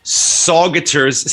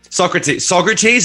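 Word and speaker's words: Saugerties: This festival took place on Winston Farms in Saugaters. How do you say it? Saugaters, saggy tits, Sagitters, sausages, New York, some fucking sog town in New York. Socrates. I never would have guessed Socrates.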